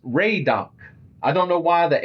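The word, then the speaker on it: Laydock: Yeah, Laid Do is actually pronounced Ray do.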